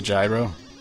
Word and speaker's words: gyro: gyro world needs a gyro now it's pronounced hero yeah